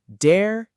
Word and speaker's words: der: Let's go learn dare das. All right, let's start with the very first German article and it's dare. Say it with me. Dare. It kind of sounds like dare but softer.